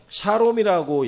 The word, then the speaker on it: 샬롬: 원래는 그 히브리어로는 샬롬이라고 얘기하는 게 정확한 발음입니다.